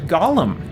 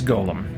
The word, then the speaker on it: golem: just took off and people just started pronouncing this word Gollum and it's and it's not it's Golem um so just a